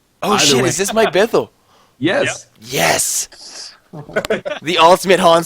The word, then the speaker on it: Bithell: Actually, do you actually have another microphone, Mike Bithell?